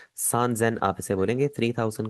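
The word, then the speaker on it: 三千: 3000 आपका थोड़ा सा चेंज हो जाएगा। आप इसे ससेन नहीं बोलेंगे। आप इसे बोलेंगे सजेन।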